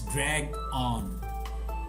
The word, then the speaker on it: drag on: is to drag on remember it is not a dragon it's dragged on the noun a drag